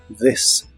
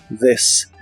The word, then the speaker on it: this: this que significa esto la th de esta palabra es como una d vibrante this this y usaremos la palabra